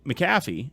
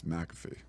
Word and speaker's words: McAfee: whatever right then m maffy not McAfee what did you say his name was it's McAfee maffy it's not I'm sorry